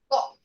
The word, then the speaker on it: bought: Bought. Bought. Okay, like this. A new company bought. We ignore all these letters here. We just say B-O-T. Bought.